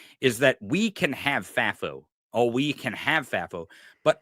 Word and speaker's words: FAFO: FAFO? FAFO? It is. FAFI? FAFO. Yeah, FAFO. Here's what I want the audience and maybe to convince other commentators of this, is that we can have FAFO.